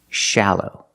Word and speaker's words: shallow: The first syllable is the short ah sound, like in black cat. Ah, sha, shallow.